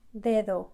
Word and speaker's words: dedo: Very soft, dedo. It's not hard d. It's just very soft. You lay your tongue right there behind your teeth and it's very soft.